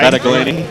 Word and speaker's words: Battaglini: No, you got to pronounce the Italian way there, Ray. Battaglini. Battaglini. Okay. No G pronunciation.